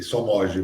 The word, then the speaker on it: Somoggi: A pronúncia é essa, Amir? Boa noite, bom dia, boa tarde. Olá, obrigado. Para mim é um prazer estar aqui com vocês. E Somod mesmo, é isso aí.